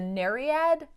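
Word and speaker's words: Nereid: this is zoey who is a as a nariad that's how you pronounce it she's the youngest daughter of nerius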